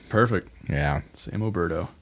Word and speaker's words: Oberto: It's Alberto, like the beef jerky. Perfect. Yeah, same. Alberto.